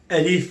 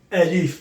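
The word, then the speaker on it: ألف: I have to mention that we can pronounce it also Alif, which is basically the alphabetic correct pronunciation. Alif, but I want to make it easy for you guys.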